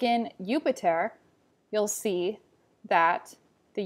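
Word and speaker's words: Iuppiter: Sometimes you'll see a J, sometimes not, but the J makes an I or a Y sound, like ya. So in a translation, you may have Jupiter, who's the equivalent for Zeus. It's going to be pronounced Jupiter in Latin.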